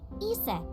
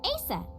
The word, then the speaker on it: Isis: Horace's mom is named Isis, but in ancient Egyptian, it's pronounced closer to Iset or Aset.